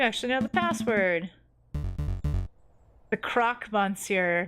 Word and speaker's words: croque monsieur: The croque monsieur, not the croque monsieur. That's hilarious. People always get the pronunciation wrong. Croque monsieur, my name is...